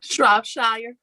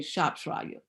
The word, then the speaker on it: Shropshire: So when you're looking at the records of that last name of Alita Shropshire, I don't know how you pronounce that name. Shropshire. Okay, Shropshire.